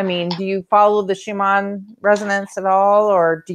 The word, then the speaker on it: Schumann: Do you think there's well, I call it Schumann because that's how the Germans would pronounce it because I'm half German, or you know.